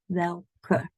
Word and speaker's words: welke: So as you can hear, I do say this E, welke. In English, we have a silent E. In Dutch, there's no silent E. It doesn't exist. We love to pronounce this E at the end.